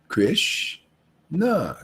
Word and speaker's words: Krishna: means radha krishna actually see two syllables not one two krish nah krish represents the absolute truth and na is just like you ever felt good ah see no ah no